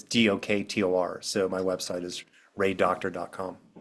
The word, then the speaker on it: Doktor: My last name is Doktor. It's just easier Oh. to say doctor. It's Doktor.